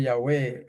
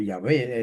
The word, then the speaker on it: Yahweh: Por ejemplo, en vez de invocar el nombre de Yahweh o Yahvé, es correcto también de pronunciar la letra hebrea wow como U o como V. Así que es correcto Yahvé y también Yahweh.